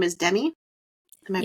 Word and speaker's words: Demi: You said her name is Demi. Am I pronouncing that correct?